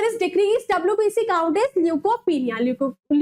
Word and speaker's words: leukopenia: सो the correct answer is decreased WBC count is ल्यूकोपिनिया। ल्यूकोमिया नहीं है बच्चों, यहाँ पर दैट इज स्पेलिंग थोड़ी मिस्टेक हो गई है, ल्यूकोपिनिया।